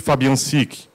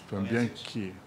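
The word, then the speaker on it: Fabiančič: Fabiancic. É, tem um CH no finalzinho que pronuncia aí, que eu estou aprendendo. Fabiancic.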